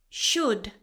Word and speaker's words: should: Should, silent L.